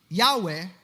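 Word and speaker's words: Yahweh: Yahwe in its original pronunciation is actually like breathing. Parang ganon in the original Hebrew language.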